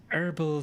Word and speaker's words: herbal: Yes, in British English, we pronounce the H.